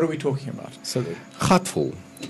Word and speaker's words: Gatfol: So Gatfol. It's G-A-T-F-O-L with a soft G.